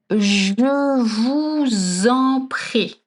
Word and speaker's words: je vous en prie: So the first thing is je vous en prie. I know it's hard to pronounce right. We have the je and the sound. Je vous en prie.